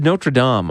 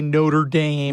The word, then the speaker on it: Notre Dame: So you said so you said Notradam.